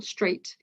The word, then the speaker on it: straight: For example, straight. You can't hear any G, you can't see any here, sorry, you can't hear any H, and you have to just completely ignore it.